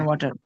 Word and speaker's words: water: water, water, water, তাহলে Water. ওয়াটার না, ওয়াটার না, ওয়াটার, ওয়াটার। water, কিছুটা Water. ডি এর মতো, আবার ওয়াটার একদম শক্ত ডি না, একটু নরম ডি, মানে কিছুটা রিল্যাক্স, ফ্ল্যাপটি